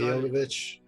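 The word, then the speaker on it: Milla Jovovich: to pronounce her name perfectly, but it's like Mia de Jordovich. Is that right? From The Fifth Element? That is the actress that we've always decided. Mia Jovovich.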